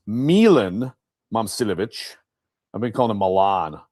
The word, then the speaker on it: Momcilovic: And then what they do is they get in transition and by the way, I I've been saying his name wrong. It's Milan Momcilovic.